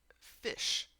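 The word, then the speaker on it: ghoti: It's pronounced fish. G h is in laugh. O as in women and TI as in motion. G H O TI is pronounced fish.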